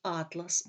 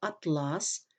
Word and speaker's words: атлас: слова відрізняються лексичним значенням у першому випадку слово атлас з наголосом на перший склад означає збірник географічних карт у другому випадку слово атлас з наголосом на другому складі означає вид тканини отже від зміни наголосу